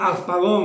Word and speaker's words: Harpagon: No, bueno, es que pronuncio Harpagon, entonces la R no suena, sí, Harpagon, Que sí.